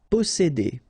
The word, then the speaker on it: posséder: Posséder. All right, here remember one vowel, two vowels here, before and after, double S, really strong S. S. Posséder. Posséder.